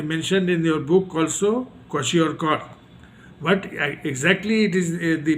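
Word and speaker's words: kwashiorkor: disorder so here mentioned in your book also quashi or but exactly it is the pronunciation isashi or okay so this is uh the disorders because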